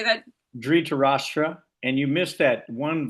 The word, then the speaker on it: Dhritarashtra: Dhritarashtra.